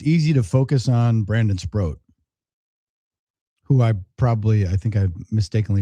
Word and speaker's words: Sproat: Brandon Sproat, 2 syllables then 1. But Sproat and Drowan both have the long O sound, and it's like I just can't keep the two.